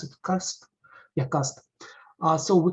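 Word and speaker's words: QAST: use uh coolbase key uh how does it pronounce it cast yeah cast uh so we currently use cast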